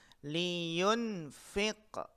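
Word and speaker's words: لِيُنْفِقْ: Contohnya adalah apa? Liyunfiq. Ya, kita perhatikan di sini bacanya liyunfiq. Nah, lam di sini kasroh dan pendek.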